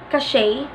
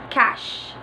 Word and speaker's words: cache: Some of you read it as cache, but this word is pronounced cash. Cash. Katunog siya nung cash na pera.